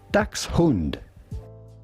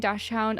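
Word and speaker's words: Dachshund: It's the same in English as Yeah, it's German. Yeah, the people saying Dashhound are American who don't know anything.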